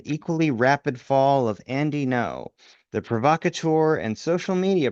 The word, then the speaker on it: Ngo: No, by the way, the name is spelled Ngo O, but I'm going to just pronounce it no for the purpose of reading uh this uh on Andy.